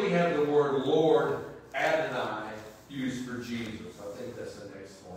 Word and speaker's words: Adonai: Now, the Lord in upper and lower case is pronounced Adonai.